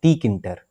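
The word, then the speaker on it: Tkinter: बहुत से लोग इसको प्रोनाउंस करते हैं टी किंटर, है ना? तो इस प्रोनाउंसिएशन पे मत जाइएगा, इसको टी किंटर भी बोल सकते हैं, किंटर भी बोल सकते हैं, नो इशू।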